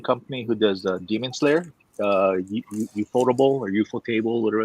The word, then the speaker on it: ufotable: Did you say ufotable? Yeah. I always thought it was UFO table. Yeah, I know it's spelled that way, but I think it's pronounced Ufotable.